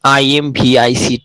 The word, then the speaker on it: IMViC: for the citrate, and lowercase I is added for the case of pronunciations. And IMV is actually four test. IMVC, but for your better pronunciation, it is IMVIC test.